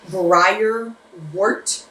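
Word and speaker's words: Briar Wort: So his name was Briar Wart? Yeah, Wart. Like one word? No, just Briar Wart.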